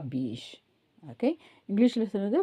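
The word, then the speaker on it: biche: சோ நேத்துக்கு பார்க்கும்போது நம்ம பீஷ்ன்னு பார்த்தோம் பீஷ்னா என்ன பார்த்தோம்? பெண் முயல சொல்றதாந்த இனி பீஷ்ன்னு சொல்லுவோம். ஆண்மான சொல்றதா இருந்தா அசேர்ன்னு சொல்லுவோம் எ படிக்க கூடாதுன்னு சொன்னோம் எ வந்து உச்சரிக்க கூடாதுன்னு சொன்னேன்.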